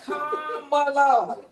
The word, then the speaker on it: Kamala: Because you saying her name wrong. They real How do you say the name? Kamala.